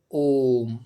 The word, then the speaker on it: ओम: अब देखिए यहाँ पे इसका उदाहरण क्या है, ओम। जैसे आप उच्चारण करते हैं ओम का, तो अ, उ, म, इन 3 शब्दों का जब आप उच्चारण करेंगे तभी ये 3 मात्राओं से युक्त प्लुत स्वर बनेगा।